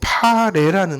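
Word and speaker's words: πάλη: 우리의 씨름에서 그 씨름이라는게 헬라어로 파레라는 말이에요. 파레. 그 왜 김처럼 생긴 파레 있죠? 그 파레하고 똑같아요. 발음이 파레.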